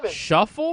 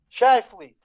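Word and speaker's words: Scheifele: players what's his name shuffle no clue i've seen it spelled it's like scheifel is he germany my assistant's saying how do you say it shy flee so that's what country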